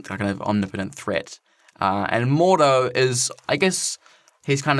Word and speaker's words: Mordo: Is it Mordo? Mordo, that's his name?